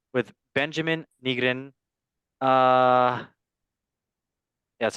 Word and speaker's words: Nygren: Breidablik on match day 4 with Benjamin Nygren.